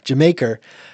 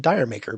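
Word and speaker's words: D'yer Mak'er: Uh, Achilles Last Stand, Over the Hills of Far Away, and they often mispronounced uh, See, I'm going to mess it up now. Uh, Jamaica, um, which for years I was calling it Dire Maker because, you know, I'm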